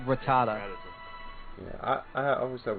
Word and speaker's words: Rattata: uh I think I used to call him ratatata or or or that one guy that did the the let's the let's glitch like Pokemon red video it's like like Ratatat no it's Rattata yeah I I always have weird pronun pronunciations